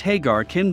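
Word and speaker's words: Ħaġar Qim: Pronounced Hagar Kim, this Neolithic site's name means standing stones.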